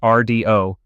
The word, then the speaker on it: Rdio: Into this mess stepped Rdio, pronounced RDO, with a proposition so